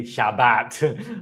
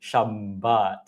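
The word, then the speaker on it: שבת: And so, I very gladly and particularly pronounce the doubling. So, I never say Shabbat. I always say Shabbat.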